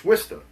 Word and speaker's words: Worcester: we we know what Worcester is. People who look at the city of Worester W. I just did it and it's supposed to it is Worester.